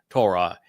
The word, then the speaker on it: Torah: The Wah in Torah conveys the O sound, and the concluding sound of Torah pronunciation is Ah from the Hey.